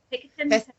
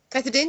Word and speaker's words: pethidine: And so she said, well, we could give you, is it the Picketin? Pethidine, yes, that's the opiates. I always said that wrong.